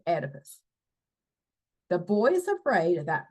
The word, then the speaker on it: Oedipus: It starts with the O, but it's still pronounced Oedipus.